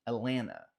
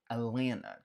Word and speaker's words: Atlanta: Você vai ouvir também, principalmente do pessoal que é de lá, nenhum dos T's sendo pronunciado. Então pode ser que você ouça um Atlanta, Atlanta, como se fosse um Atlanta, Atlanta, Atlanta.